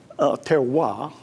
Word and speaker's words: terroir: So the French have a thing they call terroir. You can probably spell that, but not pronounce it like most French, terroir.